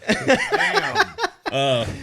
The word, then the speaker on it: NAMM: NAMM. Yeah. No, I Pronounced wasn't.